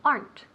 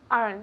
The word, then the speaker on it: aren't: rich okay good repeat aren't aren't good okay good one syllable so aren't aren't repeat again Aaron okay oh orange no aren't aren't eh so it's again aren't aren't perfect now they're they're housing